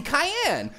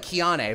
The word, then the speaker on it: Cayenne: to introduce myself I'm Cayenne it looks like Keane but it's actually pronounced like Cayenne the pepper or Cheyenne Wyoming but without the H or the Wyoming I